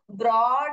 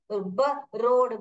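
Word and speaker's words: broad: पूछना चाहिए था मैम यहां पर तो ब्रॉड हो रहा है ब रोड ब्रोड पढ़ते हो क्या इसको नहीं हम ब्रोड नहीं बोलते हम ब्रॉड बोलते हैं तो आप ऐसे मत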